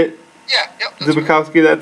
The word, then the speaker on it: Zbikowski: Zbikowski, that sounds right to me.